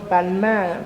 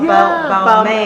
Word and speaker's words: Balmain: How is it pronounced? Balmain. I mean, she's Balmain. French, so she'll say it properly, but I'll say I say Balmain.